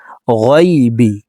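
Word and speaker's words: الغيب: আমরা অনেকে এভাবে পড়ি আলিমুল গায়বি পড়ে থাকি। এখানে গাই হবে না, গায়বি।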